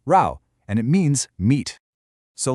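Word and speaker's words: 肉: It's a simplified version of row which is pronounced row and it means meat.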